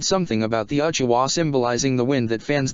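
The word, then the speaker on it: うちわ: It's pronounced uchiwa, but it's written uchiha, because the ha character takes on the wa sound.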